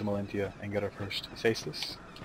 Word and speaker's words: Caestus: and get our first Caestus. Caestus? What am I saying? Caestus. Caestus? I'm pretty sure it's like a soft C sound.